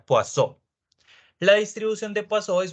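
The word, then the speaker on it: Poisson: la distribución de poison se escribe poison como si fuera veneno en inglés más o menos pero al ser francés se pronuncia poisso la distribución de paso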